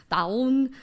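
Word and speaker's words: طاعون: in English, but also in Arabic, which is taun, in French, which is la peste, and also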